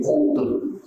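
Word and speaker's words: قوت: Karena kalau taknya ta yang tertutup cara bacanya jadi quwwatun. Tapi kalau taknya terbuka cara bacanya jadi quut.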